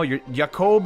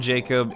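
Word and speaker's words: Jakob: No, Yakob is not a name. It actually is a way you can pronounce that name specifically. However, calling him Jacob is also proper. It really depends on where you are in the world, and I just got educated on that yesterday.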